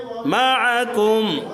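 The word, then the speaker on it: معكم: মাআকুম, আইনটা গলার মধ্যে চাপ দিয়া।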